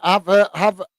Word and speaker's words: Havertz: Billy Random Clips is saying, Havertz without the H in Hertz is how you pronounce his name.